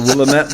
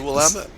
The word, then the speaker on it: Willamette: And how that happened is they went out to the I'm going to get this name wrong, with the Willamette Valley in Oregon. Yeah, the Willamette.